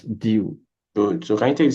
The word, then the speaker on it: du: The word DU, how do you pronounce DU again? That's due.